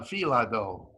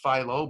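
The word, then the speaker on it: filo: are spinach in uh filado which everybody pronounces philo but we pronounce it fila next okay what about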